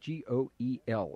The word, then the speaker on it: Goel: Gale. I think that's how that's pronounced, G-O-E-L.